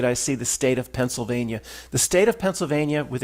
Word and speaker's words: Pennsylvania: Say it like me, Pennsylvania. There's no L. So just say it like that.